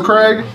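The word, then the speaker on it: Kregg: his name is also Craig. Well, we've been calling him Craig. If you have a better name for him, let me know. We've been calling him Craig, but spelled like K-R-E-G-G, like Kerr Egg.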